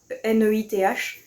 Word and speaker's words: Neith: J'espère que ça se prononce bien comme ça, N-E-I-T-H. Donc Neith, on va dire.